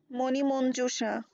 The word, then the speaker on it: মণিমঞ্জুষা: মণিমঞ্জুষা শব্দটির প্রমিত উচ্চারণ হলো মণিমঞ্জুষা, ময়কার দন্তন্ময় রশ্মি, ময়কার দন্তন্য বর্গজীয় রস্যু তালিবসায় আকার।